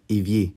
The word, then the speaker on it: évier: R is actually most commonly not silent at the end, but if E is before it, then that ER unit is often pronounced E, like évier.